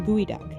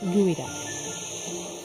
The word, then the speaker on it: geoduck: out of the way it may be spelled geoduck but it's pronounced gooey gooey ducks are the